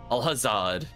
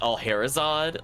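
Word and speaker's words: Alhazad: how to pronounce that alhazard like I feel like I want to say like Al harzad like I want to add like something in between the a h and the Z given that there's a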